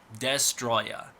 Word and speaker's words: Destoroyah: It's pronounced Destroya. So it's based off the word destroyer, oxygen destroyer, destroyer. That's where they get it from.